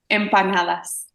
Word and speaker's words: empanadas: How you pronounce it? Empanadas.